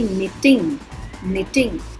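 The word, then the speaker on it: knitting: इसे बोलेंगे निटिंग. Honest, इसे बोलेंगे साम. रॉन्ग, नो, निटिंग, ऑनेस्ट, साम. अब निटिंग में के और दूसरी वाली टी का उच्चारण नहीं हुआ. बोलने में इसे हम निटिंग बोल रहे हैं.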